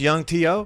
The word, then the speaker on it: Yhung T.O.: you know what you say his name is Young Teo young Teo we gotta check him out man